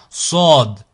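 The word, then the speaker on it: ص: Sod, Sod, Sod. Là, on est sur un son emphatique qui est grave. So, So. Et pas ça. Sod, Sod. Ici, Dod, Dod.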